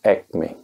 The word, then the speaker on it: acme: तो पहला शब्द मैं आपके लिए लेके आया हूँ एक्मे, जिसकी स्पेलिंग है ACME, एक्मे। एक्मे एक इम्पॉर्टेंट वर्ड है, बहुत छोटे वर्ड्स में भी कुछ इंपॉर्टेंट वर्ड होते हैं, उन्हीं में एक एक्मे है।